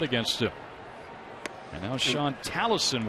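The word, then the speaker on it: Tolleson: And now Sean Tallison, we're told the pronunciation is, although it's spelled with an O. Yeah, he's on the pitch. Tallison.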